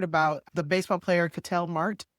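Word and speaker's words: Marte: the baseball player Catel Mart. Am I saying it right? Is it Mart or Marta? Do you know his name? I think it's Marta. Oh, I think it's Marta. Okay.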